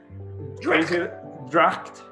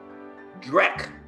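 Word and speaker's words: dreich: good one for scotland drake oh my god dract drac did you like d in in english if i was going to spell it for you so you could it would be d r e c h drac you know jim it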